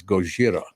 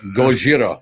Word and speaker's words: Gojira: Godzilla and and why didn't we keep the pronunciation as goira goira I don't Gojira was the original Godzilla sounds cooler in English